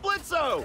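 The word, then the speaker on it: Blitzø: hey that sounds like blitzo the O is silent hey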